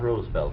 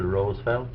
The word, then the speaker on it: Roosevelt: It's Theodore Roosevelt, not Roosevelt. Franklin pronounced it Roosevelt.